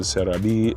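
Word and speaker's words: Celebi: Uh, my Celabe, which I've named in the Japanese pronunciation. Cereabe is yeah, a 92, which I can't complain.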